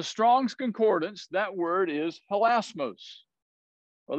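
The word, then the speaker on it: ἱλασμός: From the Strong's Concordance, that word is helasmos. Well, they put the accent on the last syllable, helasmos, I guess.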